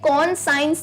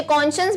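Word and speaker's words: conscience: pronunciation उच्चारण सीखें इसे कौन साइंस नहीं कहते हैं ठीक है स्पेलिंग यह है प्रनंसीएशन उच्चारण यह क्या बोलते हैं कौन शास इसे कौन साइंस नहीं कहेंगे अच्छा कॉन्शांइस बेसिकली क्या होता है सबके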